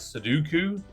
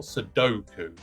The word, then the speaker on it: Sudoku: I always pronounce it as Suduku, not Sudoku.